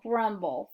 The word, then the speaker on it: grumble: We're going to put our syllables together. Our word is grumble.